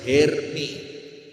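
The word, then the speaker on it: Hermès: Tas Herpes tahu? Tas mahal itu apa? Herpes. Kalau herpes apa? Oh, itu cara bacanya bukan herpes, Bu. Herm.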